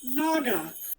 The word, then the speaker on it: Naga: And I think it's pronounced Naga.